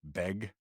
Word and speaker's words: bag: in Seattle, everyone says if you're a local from Seattle, you pronounce BAG, beg.